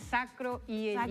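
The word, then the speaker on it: sacroileítis: Sacroielitis. Sacroielitis. Y la I primero, sacroielitis.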